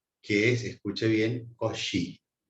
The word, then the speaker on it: Cauchy: Y después viene ese otro que es impronunciable, que es, escuche bien, Cauchy. Para nosotros es Cauchy. Teorema de Cauchy, que es como decir Cauchy en francés.